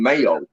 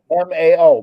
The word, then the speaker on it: Mao: Okay, I like calling Mayo. Well, you can call him Mayo. You Okay, I wasn't too sure how to pronounce it. Potatoes, That's potatoes. Just like the communist leader Mao Zedong, M-A-O, Mao Zedong.